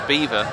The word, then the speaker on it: Belvoir: what i said before they do actually pronounce it belvoir in there so yeah i don't know but if you google it it's apparently supposed to pronounce beaver but whatever anyway it